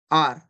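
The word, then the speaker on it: hour: देखिए एन आर एन आर बहुत से लोग इसे हावर पढ़ते हैं हावर नहीं होता ये होता है आर और इसे और बोलते हैं तो एन और यहां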